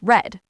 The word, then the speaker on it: read: And the tricky one, read becomes red but we say it like red.